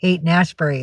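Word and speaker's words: Haight-Ashbury: Hate Street. There it is. That's how it's spelled. Not H A D E. H A I G HT. It's Hate Nashbury.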